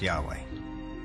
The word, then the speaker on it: Yahweh: knew God by his intimate personal name conventionally pronounced Yahweh passages with the name Yahweh which in German is spelled with a J